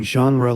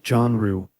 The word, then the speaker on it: genre: He makes some joke about our teacher pronouncing genre like John Rue.